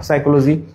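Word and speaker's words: psychology: Pneumonia বানান P pneumonia, সাইকোলজি বানান পিসাই চলো যাই।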